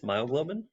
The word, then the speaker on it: myoglobin: And you may recall it rhymes with glioglobin, and it's myoglobin.